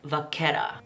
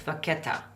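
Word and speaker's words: vacchetta: picked the shade called vaquera no I actually Googled how to pronounce this I didn't want to butcher it it's an Italian word it's vaquetta so let's call it yeah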